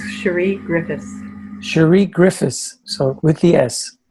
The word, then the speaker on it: Griffiths: coffee with you and your last name is pronounced Griffith we got the silent s it's Sheree Griffith Sheree Griffith so with